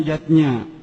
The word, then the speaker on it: yajna: Zatnya tulisannya yajna, Ayah Bunda, tapi membacanya yatnya.